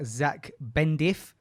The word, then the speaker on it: Zak Bendif: This episode is with our dear brother, Zach Bendif.